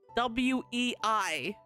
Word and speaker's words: Wei: His last name is Wei, but it's spelled W-E-I. I had to have it explained to me multiple times because my brain just kept forgetting.